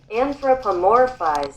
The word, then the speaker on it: anthropomorphize: How do you pronounce do it? Anthropomorphize.